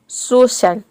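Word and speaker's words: social: श प्रोनाउंस करना है जैसे कि देखिए यहां पे है शो शल शो शल शो शल देखिए यहां पे एस का हो जाएगा स और ओ का होगा ओ सी ए आई एल का हो जाएगा शल यहां पे सी को हम श प्रोनाउंस कर रहे हैं सोशल सोशल मतलब होता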